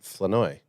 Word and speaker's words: Flournoy: Yeah, but there's an easy if you take the R out. There's an R. Well, I'm just telling you how his parents told Boots and I to say it. Flournoy.